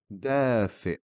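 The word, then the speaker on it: دافئ: Dafi. Again, here the Hamza sitting on a completely new letter shape. It's carrying a sukun, but we know that makes half the sound, so we pronounce the word dafi, which means warm.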